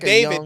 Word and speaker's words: d4vd: He's like David. David like the It's spelled D4V DD, but he's in the